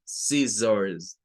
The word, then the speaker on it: scissors: Es muy corto, esto se dice muy rápido, ziz, y es la sílaba tónica. Y luego la otra es esta de acá, la O, la R y la S. Nuevamente, O, R al final de las palabras suena con un schwa, se convierte en un schwa. Entonces es ors, scissors, scissors.